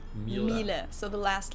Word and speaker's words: Miele: wrong in English, but English native speakers usually say something like Miele, so it usually sounds more like an A in the end, whereas in German we say Miele. Miele.